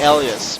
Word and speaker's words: Ilias: That's a bit hard to pronounce, especially when you put the I after the after. It's supposed to be Elias, but maybe his name is Ellie or something.